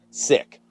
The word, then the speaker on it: Sikk: believe it or not this brand is called sick and you can see it right there but it's not spelled like how you get sick it's spelled s-i-k-k sick bicycles and they really